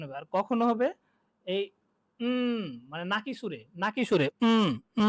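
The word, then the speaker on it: みんな: নয়ের মতো উচ্চারণ হবে, আর কখনো হবে এই মানে নাকি সুরে ন এই নাকি সুরে উচ্চারণটা হবে।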